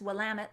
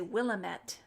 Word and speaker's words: Willamette: love the willamette and that's willamette like damn it used to say willamette willamette and it's oregon not